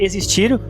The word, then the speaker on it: exist: No caso da palavra existir, o som do X é de GZ.